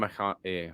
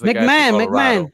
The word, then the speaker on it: McMahon: Freddie Freeman, and Ryan McConaughey. How do you call him? Ryan McConaughey? McConaughey? No, I forgot how to pronounce his name. McMahon. I don't know, bro. It's McMahon. Ryan McMahon.